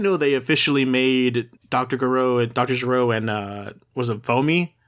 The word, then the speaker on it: Gero: So like how do you pronounce Jiro in Japanese? Like you're supposed to Gero.